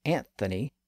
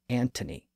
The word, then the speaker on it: Anthony: y and over time some English speakers began pronouncing the name as Anthony to reflect that spelling that was especially true in North America Britain tended to retain the traditional pronunciation as antthony again that's also why